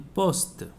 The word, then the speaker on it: poste: Why I am pronouncing the T is because the word is ending with a vowel. So whenever it ends with the E, we have to pronounce the last before letter. In poste. I am stressing the T.